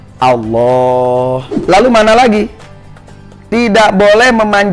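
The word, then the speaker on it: الله: Allah dalam takbiratul ihramnya, tapi memanjangkan hamzahnya lafaz Allah. Jadi kembali tidak boleh membacanya Allah, tapi harus Allah.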